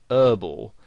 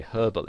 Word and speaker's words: herbal: they would pronounce it whereas in british english you would pronounce the h and you'd say herbal essences and you might